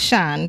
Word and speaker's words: Sian: of tricks me alright so your name is spelt si en it's pronounced yes your company's name